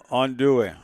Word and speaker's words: andouille: Andouille. How you say? I call it andouille. It's andouille. That's the Mississippi phonics way of pronouncing andouille.